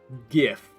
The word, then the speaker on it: gif: made a joke about gifts and gifs uh with the gift but that's a i can i say it with a hard g come at me i